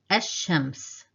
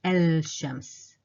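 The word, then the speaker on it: الشمس: So you see, I didn't pronounce the lam because it's kind of difficult saying al-shams, al-shams. We can't read both letters separately, so we'll drop the lam and focus or stress on the sheen.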